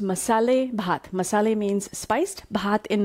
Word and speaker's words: Masalé: even know how it's pronounced and it's actually pronounced masala Messala means spiced hot in marathi means rice